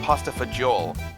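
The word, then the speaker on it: pasta fagioli: They pronounce different, but what my family I call we call it pasta fajul.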